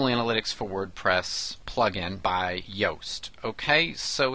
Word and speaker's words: Yoast: first name is pronounced Yoast and that's why the website is Yoast just like toast why Oh ast com